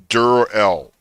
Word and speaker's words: Dur-El: Pronounce this as two different things. Dur-El, sort of like Jur-El or Kal-El.